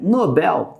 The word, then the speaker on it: Nobel: que eu terminou acionária ele ganhou o prêmio Nobel tá Nobel é a sílaba tônica tá Então fecha comigo